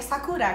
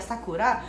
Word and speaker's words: Sakura: Brasil, eu vi que todo mundo se pronuncia Sakura, tipo uma Sakura. Errada. É, fala Sakura. E aí eu pensei, daí minha filha, tipo, vai ter o nome Sakura, daí ela vai falar pros amigos, é Sakura, tu não vai chamar de Sakura. Ô Sakura, daí ela vai ter que sempre falar, não é Sakura, é Sakura.